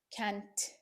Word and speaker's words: can't: and the word can't they do not pronounce the T very clearly can't no they say he